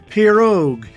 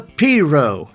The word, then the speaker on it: pirogue: fact that a small swamp boat is not pronounced pirogue it's a Pierrot despite some 1,000 years of spelling the name